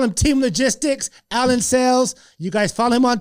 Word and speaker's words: Sales: Hey, we call him Sales, so this is just a funny joke. So everybody calls him Sales because it's spelled S-A-L-E-S. But as you heard, that's not how you pronounce it.